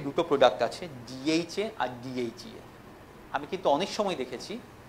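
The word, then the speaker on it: DHEA: আচ্ছা, প্রোডাক্টের ব্যাপারে খুব বেশি কিছু বলবো না, সব কোম্পানি সব ট্রেনিংয়ে বলা থাকে, কিন্তু correct pronunciation of product name is important. যেমন গাইনিতে দুটো প্রোডাক্ট আছে, ডিএইচএ আর ডিএইচইএ।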